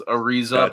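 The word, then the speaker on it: Araiza: god or it's like not hard on the a it's like a raise ariza but not look more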